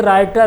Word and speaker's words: writer: इसके नीचे राइटर, तो राइटर तो बहुत लोगों ने सबने पढ़ा है, लेकिन स्पेलिंग हमेशा ध्यान रखना, WRITER होता है, W का उच्चारण नहीं होता है।